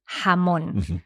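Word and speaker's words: jamón: yes exactly yes so for me it's much more natural to say hamon and what about in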